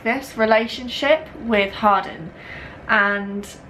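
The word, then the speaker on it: Hardin: r d i n it's different when Americans say it as opposed to like UK British people so I just say Harden I don't know that's just how they say it in the trailer you just follow her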